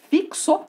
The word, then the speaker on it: fixo: a pescoço transcrição fonética fixo eu poderia por aqui oo também dependendo do local da pronúncia tá ó caí o x ele tem um som de um ks fiz o fixo então fica isso amores